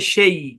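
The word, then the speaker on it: chez: রাখবেন যেমন খেয়াল করেন সি এইচ ই জেড হ্যাঁ এই শব্দের উচ্চারণ হচ্ছে সেই হ্যাঁ কি উচ্চারণ সেই এখানে জেড সাইলেন্ট এখানে আবার সিএইচ এর উচ্চারণ তাহলে বসার মত উচ্চারণ সেই অনেকে এটাকে চেজ বলেন চেজ না ভাই সেই উচ্চারণ সেই ঠিক আছে ওকে তারপর দেখেন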